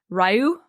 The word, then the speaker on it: Rye: I mean, so because to keep it simple, I'm just going to say Rye, but the way that it's pronounced in game is Ryu, which is like also